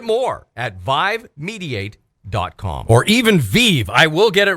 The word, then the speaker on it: Vive: Well, see, the thing is, and I do always ask you, Sally, I do apologize, but it's spelled V-I-V-E. And but it is Vive.